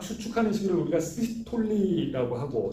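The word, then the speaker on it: systole: 그래서 어찌됐건 세포 내에 이게 심근이 막 수축하는 시기를 우리가 시스톨리라고 하고, 시스톨 아니고 시스톨리예요, 발음이.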